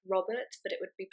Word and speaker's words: Robert: have a name like Robert but it would be pronounced Robert or Robert if you were going to roll the RS properly another example you'd say